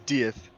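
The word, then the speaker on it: dydd: crash the word of the day guys is deth it means day and that is the name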